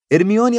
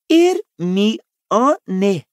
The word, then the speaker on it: Hermione: Hermione agora ensinava Krum a pronunciar seu nome corretamente. Ele não parava de chamá-la de Hermion. Hermione", dizia ela lenta e claramente.